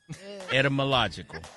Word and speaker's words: etymological: Et- pronounce the y as if it says air instead of Y. It air melogical? Now pull it all together. It air melogical. Etymological.